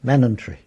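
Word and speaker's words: Manningtree: call it messing and Manning tree would be manant tree very short on the end and the I before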